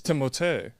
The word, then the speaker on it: Timothée: It's Timothée. Timothée. Timothée Chalamet. I swear to God, So I'm he not was joking. playing kickball in the streets, and they're like, Timothée! Well, it's French. I'm pretty sure it's Timothée!